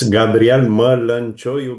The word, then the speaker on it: Gabriel Mălăncioiu: Yes, it's Gabrielle Merlin Choy. But you your pronunciation was quite good.